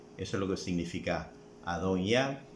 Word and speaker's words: Adonías: Recuerde que el hijo mayor de David era Adonías, que en hebreo se pronuncia Adon-Yah.